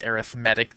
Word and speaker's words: arithmetic: has the same roots for sure but we pronounce this arithmetic this is the adjective verb adjective form of